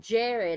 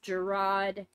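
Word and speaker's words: Jarad: Jared didn't you P of shit Jared he pronounced it Jared I thought it was pronounced Gerard I apologize if I mispronounced it but he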